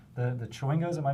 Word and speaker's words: Chwingo: The Chwingos, am I pronouncing that correctly?